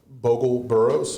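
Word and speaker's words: Bogel-Burroughs: Uh Nick Nick Bogle Burroughs uh he is uh he was the southeastern region reporter for the New York Times. How do you pronounce his last name? Bogle Burroughs.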